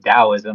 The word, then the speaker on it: Taoism: Uh cuz well really it's it's pronounced dowoism like da I know how I know the pronunciation actually that's what debay is into.